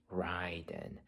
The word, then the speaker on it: Ryden: I mean, yes, it's pronounced Ryen.